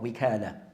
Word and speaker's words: wikala: So the word can be pronounced as wakala bit fata over the waw, or wikala. So both are a permissible way of pronouncing the word.